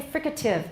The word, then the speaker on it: fricative: And I also say fricative. I don't say fricative. I suppose it's possible, but it sounds odd. I say fricative.